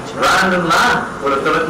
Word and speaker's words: Lan: It's pronounced LAN. L-A-N. That's how it's spelled. That spells LAN. You don't hook up all the computers together and have a lawn party, do you?